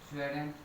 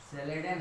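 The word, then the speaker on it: Schleiden: Matthews, स्वेडेन, MAATAIS, Matthews स्वेडेन। शायद spelling गलत हो गई। हाँ, अब सही है। मैथ्यूस स्वेडेन, SC स्लेडेन है, स्वेन नहीं है।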